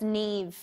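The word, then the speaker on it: Niamh: But it's Neve.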